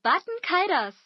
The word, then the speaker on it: Baten Kaitos: Welcome to Baten Kaitos.